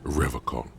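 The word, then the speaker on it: Revachol: He pronounces Revacon with a hard K. I like to pronounce it the hard.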